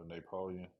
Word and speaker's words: Naypoleon: It's Napoleon, short Napo, but it's spelled NAYPOLEON.